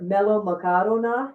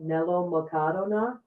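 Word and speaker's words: μελομακάρονα: These are melomakarona, is how you say that, melomakarona.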